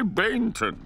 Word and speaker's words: Bainton: Hey, Bainton. The way you remember it is it rhymes with plankton.